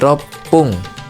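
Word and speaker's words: 六分: Jadi untuk angka 6-6nya itu sama aja diubah jadi rop pung kalau dia menyebutkan menit.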